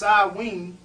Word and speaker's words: Samhain: made first flip and Samhain pronounced odwin at the end of